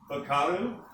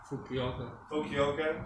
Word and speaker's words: Fukuoka: Fukaru? How do you say that word? Anyone? Fukuoka.